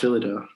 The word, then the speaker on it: Phyllida: I was not familiar with Phyllida Barlow. Did I pronounce that right? I think it's pronounced Phyllida. Phyllida.